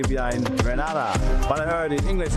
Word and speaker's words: Grenada: It's Grenada. It's not Grenada. It's Grenada.